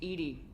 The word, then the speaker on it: EDI: Why are you named EDI? ED is the phonetic pronunciation of EDI.